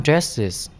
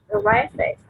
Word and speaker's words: dresses: Everyone dresses. Everyone dresses. Em có thể đọc là dress, âm trờ cũng được. Dresses. Dresses. Âm đờ mà đi với r chúng ta có thể âm trờ.